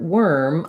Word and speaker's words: worm: So when I'm thinking about the word worm, I have to basically kind of try to ignore those letters OR.